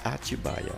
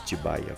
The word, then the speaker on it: Atibaia: Hoje se escreve e se diz atibaia, as formas tibaia com y, ettibaia com th e atubaia, etc. já estão fora de uso.